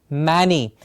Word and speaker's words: many: like we did in many, M-A-N-Y, the correct pronunciation being many.